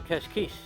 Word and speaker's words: Cascais: nice this is the international sailing federation on cashquiche now we know how to say it